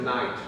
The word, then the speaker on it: knight: No, it's a knight. You don't pronounce the cake.